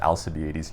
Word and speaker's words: Alcibiades: I used to pronounce it Alcibiades. Joseph, my brother, corrected me on that.